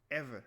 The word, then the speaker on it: Ewe: EWE is not Ewi, it's ever. That's how you pronounce it.